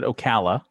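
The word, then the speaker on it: Ocala: the A's right well even the C it could be o like OC or Oka right Okala okay typically here it would be said Okala but again that's that's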